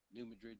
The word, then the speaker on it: New Madrid: New Madrid Fault.